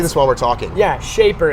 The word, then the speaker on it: Shapr: Yeah, Shaper. It's of course it's like spelled in I'm gonna let you guess how it's spelled.